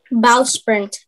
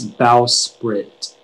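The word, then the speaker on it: bowsprit: recovered in black fabric bow sprint am i saying it correctly um i think listen to the end it's bow sprit sprit yeah okay b o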